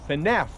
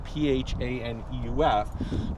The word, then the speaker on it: Phaneuf: There are, now it's pronounced Phaneuf where I come from, P-H-A-N-E-U-F, but folks around here either say Phaneuf or Phaneuf.